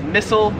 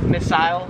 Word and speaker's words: missile: 24 is missile, or as they would say it in Australia, missile.